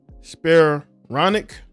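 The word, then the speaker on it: Spiranac: Right, there's a female by the name of Paige Spironic. That is how I pronounce her last name.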